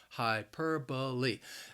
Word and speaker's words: hyperbole: are just using hyperbole the word has four syllables and the stress is on that second syllable hyperbole now I think with